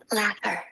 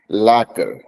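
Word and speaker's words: lacquer: Read on my phone लैकर लैकर एल ए क्यू यू ई आर जो क्यू यू क्वर जो नहीं वो कर है वो लैकर लैकर लैकर लैकर लैकर करोगे तो बढ़िया।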